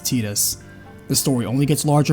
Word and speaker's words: Tidus: In addition, the audio drama sequel Will establishes that he did return and again clarifies officially his name is pronounced Tidus.